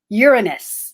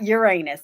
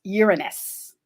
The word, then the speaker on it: Uranus: But Venus and Uranus is how it's pronounced, not Uranus. It's pronounced Uranus.